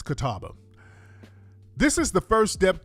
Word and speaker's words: Catawba: The Catawba, that's what it's Catawba. This is the first step towards rectifying the wrongs perpetuated against the Catawba Indian Nation and addressing the historical inequities they face.